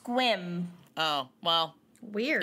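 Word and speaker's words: Sequim: the Olympic Peninsula and I was wondering if sequum was the same but it's it's pronounced squim oh well weird it's not spelled that way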